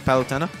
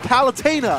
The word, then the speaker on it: Palutena: the Devon please is palitana it's palutena Fountaine where's the I where in game it is pronounced palutena by lieutenant you're worse